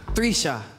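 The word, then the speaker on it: 3'Shxia: Okay, how do you think you pronounce this? Number 3, apostrophe, S-H-X-I-A. Mama? 3, apostrophe. Sound it out. 3, apostrophe. S-H-X-I-A. Trisha.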